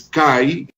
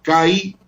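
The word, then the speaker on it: καί: Entonces, esas dos palabritas fueron añadidas en este documento y encima de la raya blanca ustedes pueden ver ahí la palabra kai, que se pronuncia que, y la palabra nesteia, que es esa otra palabra subrayada con la línea blanca.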